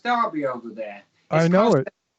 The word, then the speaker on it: Derby: I'm from a city called Derby, which is spelt Derby over here, but it's pronounced Derby over there.